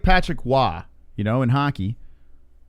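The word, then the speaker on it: Roy: Well, it's like Patrick Waugh, you know, in hockey. His name is spelled R-O-Y, but it's Waugh, right?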